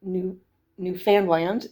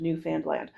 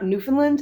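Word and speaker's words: Newfoundland: pronounce Newf Foundland was it rhymes with understand. Um, so it's not Newf Finland and it's not Newf Foundland.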